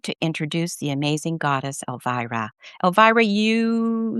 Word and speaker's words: Elvira: It's pronounced Elvira. Everyone says, but it's pronounced Elvira.